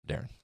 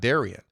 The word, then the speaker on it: Darian: an to the dad why is it Darren and not Daran and he said it is Darren but it's spelled the way that it is because there was another Darren Dev near them and his mom didn't want to get their mail confused that is also Iowa